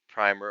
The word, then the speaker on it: primer: linked question I pronounce primer or primer the textbook to rhyme with trimmer primer but people I